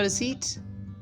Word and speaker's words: receipt: अच्छा, इसको लिखना रिसिप्ट है लेकिन पी साइलेंट है यहाँ पे, तो you will say ji have a रिसीट।